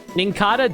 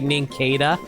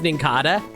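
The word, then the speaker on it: Nincada: Ah, Ninkata does sound very smooth, but you have to force yourself say Ninkada. I mean, that's fair. I just always pronounce as Ninkada because like, you know, cicada.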